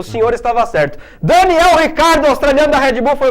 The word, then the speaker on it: Ricciardo: É Daniel Ricciardo a pronúncia. A origem italiana, a origem por isso.